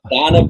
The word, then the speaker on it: Daane: Just I've learned it's actually, it's pronounced Daane, but I've heard so many versions.